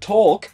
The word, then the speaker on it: talk: And with talk, it was because of a video by The Odd Ones Out in which he complains about talk having a silent L.